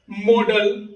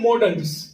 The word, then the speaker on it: modal: देखिए बहुत लोग इसको मोडाल वर्ब्स बोलते हैं, मोडाल बोलते हैं, लेकिन याद रहे इसका बेहतर जो प्रोनाउंसिएशन है वो है मॉडल्स। तो मॉडल्स ही आप यूज करेंगे, मॉडल बोलेंगे, मोडाल बोलने की कोई भी जरूरत नहीं है।